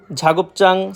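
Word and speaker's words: 작업장: ঝিকচাং, ঝাগপচাং, সাওপচাং মানে কর্মস্থল। হ্যাঁ ভাই, আপনারা ঠিকই শুনতেছেন, আমি লাস্টে চাং উচ্চারিত করতেছি। আসলে সবগুলার লাস্টেই চাং উচ্চারিত হবে। কেউ যদি উচ্চারণ করে জাং, সেটা সম্পূর্ণরূপে ভুল।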